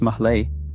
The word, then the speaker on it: Malé: Malé, pronounced Mahlé, is the capital and by far the largest